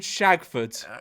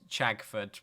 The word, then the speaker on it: Chagford: what no way is there a place called shagfoot okay it's pronounced chagfoot but i if you uh start renting in